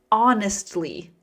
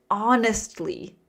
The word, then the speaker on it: honestly: Honestly. Honestly. The H is silent. It sounds like awe, like awesome, always, honestly.